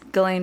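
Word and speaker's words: Ghislaine: galen what is that that's galen maxwell's name that's how you say it it's like an australian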